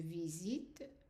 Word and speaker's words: visite: Because whatever comes after the T is silent, whether it's an E, just an E, or an ES, both of them are silent, which means that they are going to be pronounced the same way.